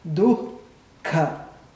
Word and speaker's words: dukkha: Tem esse som, tem esse ar solto. Dukkha. A pronúncia mais adequada seria assim: dukkha.